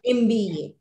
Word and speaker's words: MBA: professional an hr professional an mba why the phonetic sound of m is as in mango ma mango i ate a mango but i am an mba okay is that clear